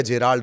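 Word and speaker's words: Gerald: तीसरा, जिसे आप गेराल्ड या जेराल्ड, दो नाम कहते हैं, ये प्रोनाउंसिएशन का मामला है। उसकी स्पेलिंग दरअसल GE से शुरू होती है, तो कोई गेराल्ड बोलता है, कोई जेराल्ड बोलता है।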